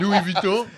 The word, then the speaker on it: Louis Vuitton: Louis Vuitton, right?